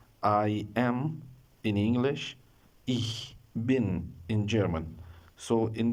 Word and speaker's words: ich: Some people pronounce this word, especially in India, like ish. It is not ish. Be careful with this word. It is ich. Ich. You have to press your tongue to your lower teeth like this.